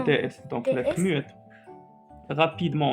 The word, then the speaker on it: rapidement: Rapidement, on n'a pas prononcé T.